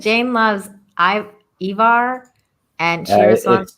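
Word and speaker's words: Ivar: the Boneless yeah the the Scandinavian uh I is pronounced like the English e ah yeah that's why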